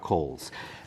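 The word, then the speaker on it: Cowles: when he passed away he left the entire 850 acres to his daughter Emily and her husband Dr Robert Coles and it's c-o-w-l-e-s not k-o-h-les or Angel pronunciation the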